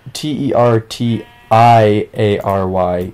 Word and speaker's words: tertiary: in the business wait te RT I a ry is a thing I can't even visualize that in my head well it's pronounced tertiary well that's [ __